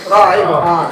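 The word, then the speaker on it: رحيم: Tidak rahira tapi rahim.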